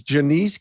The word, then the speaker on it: Janese: the last name finally right so it's it's janiece with alabama and i finally got it